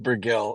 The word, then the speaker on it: Burgell: It's pronounced Burgell. It's hilarious. It just rolls off the tongue like burgle.